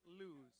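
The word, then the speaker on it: Lues: Lewis, L-U-E-S. How would you pronounce that? Lewis.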